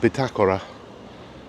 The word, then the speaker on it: Bitácora: And then across the road from Club Las Calas, we've got one which everyone always struggles to pronounce. But it's actually pronounced Bitácora.